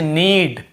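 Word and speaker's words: need: जैसे देखिए knock, knock खटखटाना, knock knock ऐसा, तो नॉक, यहां पर भी के साइलेंट होता है, क्नॉक नहीं पढ़ेंगे, केवल नॉक पढ़ेंगे। वैसे नीड, ये हो गया नीड, यहां पर भी के को नहीं पढ़ेंगे।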